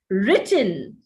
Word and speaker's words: written: you say written in written has to be accented on the first syllable but some indians tend